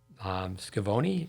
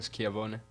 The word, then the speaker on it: Schiavone: But help me with the pronunciations. Flavia Pennetta, 2015 U.S. Open. Yeah. Scavone, Francesca. How do you say that? Francesca Schiavone.